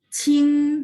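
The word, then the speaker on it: 清: Kalau memang mau belajar fayin, berarti kayak pronunciation saya suka bilang, oh Q bacanya CH ya teman-teman ya. Jadi Qing nada 1 misalnya contoh di halaman ini Qing jernih ya.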